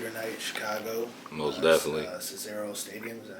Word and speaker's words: Cicero Stadium: Cicero Stadium. Is that how you say it? Cicero Stadium.